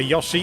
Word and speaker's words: Yoshi: And yes, some people are making fun of the way that I pronounce Yoshi. If you want to get really picky, it's technically closer to the Japanese pronunciation to say Yoshi.